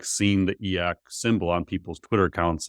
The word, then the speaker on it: e/acc: Um I would I would not consider myself e/acc.